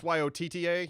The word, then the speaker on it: Yotta: it's Yotta. Yeah, that says Yoda to me. Yoda. You say the Yoda, I say the Yoda. See, when you say Yoda, I think It's the Yotta Star bite.